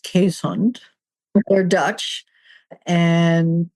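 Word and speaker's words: Keeshond: But in case there are any dog breeders listening, it's pronounced Quesund.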